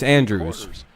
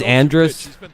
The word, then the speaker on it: Andrus: Elvis Andrews. I think it's Andrus, like and Russ, but it's spelled like Andrews.